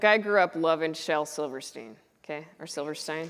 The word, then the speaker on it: Silverstein: grew up loving Shel Silverstein okay or Silverstein did I say Silverstein right Steen I said it right the first time yeah it's always a